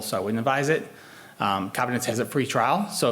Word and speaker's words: Covidence: When you start pulling the articles, I like I like Covidence, which is actually pronounced Covidence.